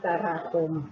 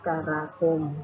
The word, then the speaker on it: มกราคม: เดือน ธันวาคม คะ ส่วน คำ ว่า มกราคม อ่าน ได้ 2 แบบ นะ คะ มกราคม อ่าน ว่า มกราคม มี หรือ มกรา คม กรกฎาคม อ่าน ว่า จะ